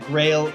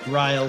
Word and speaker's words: Greil: In Japanese, you would pronounce that Greil. In German, you would pronounce it Greil, so it's very confusing.